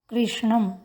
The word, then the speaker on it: कृष्णम: उच्चारण करते समय ध्यान रखेंगे कृष्णम में मूर्धन्य श है, कृशा में तालव्य श है।